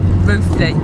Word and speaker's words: Rothley: heading for Rothley that we found out we've actually been pronouncing it wrong, and it's Rothley.